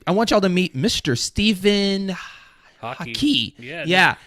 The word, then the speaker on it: Hawkey: Stephen Hawkey. Yeah. Pronounced just like the sport, slightly different, or spelled slightly different.